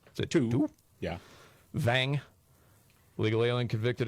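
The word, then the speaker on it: Tou: Then there was, I'm going to butcher these pronunciations. T-O-U is the first name. Is it Tu?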